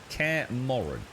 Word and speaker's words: Kaer Morhen: So, have they introduced how do you pronounce that? Is it Kaer Morhen? Kaer Morhen.